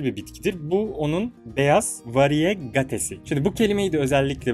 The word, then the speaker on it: variegate: Bu kelimenin doğrusu variegate. Türkçe olarak telaffuz ediyorum. Variyete değil.